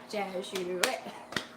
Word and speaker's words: Jesuit: Jesuit? Whatever it is. You should know how to say it since you went there. Jesuit. 3 syllables.